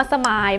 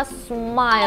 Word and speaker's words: smile: สมาย เดี๋ยว ๆ ค่ะ อย่า ลืม นะ มี ตัว L เที่ยง นี้ เรา ออก เสียง L เนาะ มี ตัว L ต้อง ออก เสียง ว่า สไมล์ โอว มาย เอา มัน